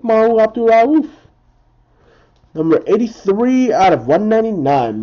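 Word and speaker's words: Mahmoud Abdul-Rauf: For the Denver Nuggets, Mahu Abdul-Rauf. Yeah, I said it right. Mahu Abdul-Rauf.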